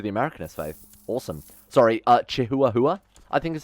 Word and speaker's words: Chihuahua: Sorry, Chihuahua, I think is how that's actually pronounced.